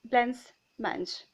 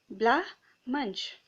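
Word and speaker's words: blancmange: the word down it is how to pronounce if the spelling if you see it seems as if blends munch but if you see how to pronounce it is given blah munch okay so meg wanted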